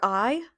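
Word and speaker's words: aghaidh: In Irish, your eye is your face. It does not look like the word eye in English, but that is how you pronounce it, and it means face.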